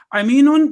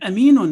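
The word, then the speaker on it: أمين: Ain and alif are 2 different letters. Aminun means blind and aminun means trustworthy. Our Holy Prophet ﷺ was known as trustworthy, Amin. Now imagine wrongly pronouncing it to Amin, na'uzu billah.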